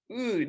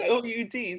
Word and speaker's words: oud: The audience has tears from the story, but Karina, she takes that old battered oud. I knew it earlier. Now, like, what is that word? Well, it's spelled O-U-D, so it's confusing.